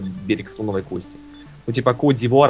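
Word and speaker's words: Côte d'Ivoire: Слоновой кости Ну типа кодир это французское произношение в своё время просто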